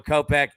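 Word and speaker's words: Kopech: hits runs in RBIs how do you pronounce my man's name pitching for the White Sox there Michael kopeck there we go kopeck look we always say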